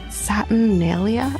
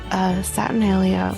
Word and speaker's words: Saturnalia: north, there's this holiday that they did called Saturnalia, I believe is how it's said, which is